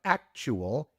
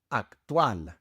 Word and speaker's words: actual: Of course, you have to give it a Spanish pronunciation. Instead of actual, it is actual.